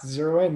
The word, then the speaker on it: ZeroIn: Yeah, ZeroIn.